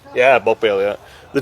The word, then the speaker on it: Bogballe: So that's how you pronounce it, Bogballe. Yeah, Bogballe, yeah.